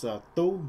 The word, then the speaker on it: Tu: But the actual pronunciation of the name is Tu, all right? It's not Tu, it's Tu. You have to say it in a higher pitch.